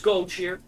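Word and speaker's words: Goldshire: Like my pronunciation of Gold Shear. It is Gold Shear. It has been Gold Shear since Warcraft 3.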